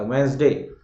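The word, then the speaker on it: Wednesday: ठीक है, इवन मेरी पूरी इंजीनियरिंग कॉलेज खत्म हो गई, मैं वेडनेसडे ही बोलता था, वेंसडे।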